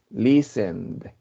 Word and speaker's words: listened: En pasado, pues el verbo debe sonar listened, listened, pronunciando la D como en good, listened.